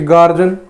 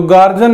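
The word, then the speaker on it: guardian: जैसे गार्जियन, तो गार्जियन नहीं होता, वो गर्जियन होता है, गर्जियन।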